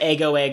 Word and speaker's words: Ego: No, so he did pronounce it Ego in the Japanese. We watched the sub. It's not out dubbed, I don't think. And it might never be dubbed unless by fans. But it's clearly the word ego.